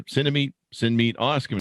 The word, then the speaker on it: Cinemeet: the app is called cinemate it's uh it's spelled like cinema and meeting somebody so cinemate you can search on